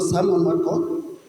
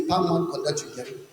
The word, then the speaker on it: Pam Konda: My name is not Simon Makon, but my name is Pam Konda.